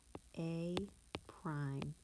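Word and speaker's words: A′: So that word, we would say point A is this point here, negative 4, 0, and then this is pronounced A prime.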